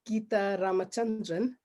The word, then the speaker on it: Geetha Ramachandran: lovely to be here my name is gita ramachandran as jenny correctly pronounced i am an executive